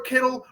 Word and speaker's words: Kittle: And instead, also, Purdy has a dude whose name rhymes with Skittles. That's pretty amazing as well, catching the football in George Kittle, right?